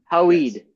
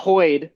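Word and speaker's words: Hoid: Hoed. Hode. Hoed. Hoed. Hoed. Not Hoyd. Not Hoyd. Hoyd.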